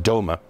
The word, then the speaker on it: DOMA: Court about the federal Defense of Marriage Act or do which is pronounced Doma that law limits the